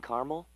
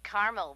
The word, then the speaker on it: caramel: I'd like it in caramel actually you said caramel when it's pronounced caramel can't we just call